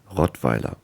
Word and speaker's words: Rottweiler: I'll pronounce it in German because it's a German dog breed, Rottweiler.